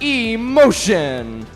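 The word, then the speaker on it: Σ Motion: They're pronounced Emotion.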